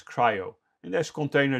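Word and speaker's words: CRI-O: there's runc there's cryo you write crio you should pronounce it as cryo in this container d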